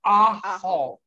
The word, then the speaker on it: ajo: It's pronounced ajo.